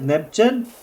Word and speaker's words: Nebgen: I pronounce it Nebgen because it comes from the word Benjen.